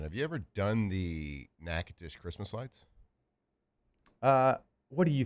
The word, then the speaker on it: Natchitoches: Have you ever done the Natchitoches Christmas lights? What do you think, being from Shreveport? Yeah, I guess that's right. N-A-T-C-H-I-T-O-C-H-E-S. Yeah, Natchitoches.